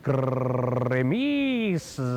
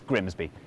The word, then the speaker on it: Grimsby: But what if we told you it was pronounced Grimis? No. We'd be lying, it's Grimsby.